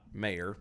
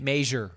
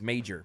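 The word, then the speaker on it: Meijer: This is actually spelled like the Norwegian, the Norse. Majir. Yeah, it's M-E-I-J. Major. He's Major. Major.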